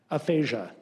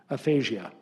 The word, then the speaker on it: aphasia: The word is aphasia. Aphasia. Alternate pronunciation, aphasia.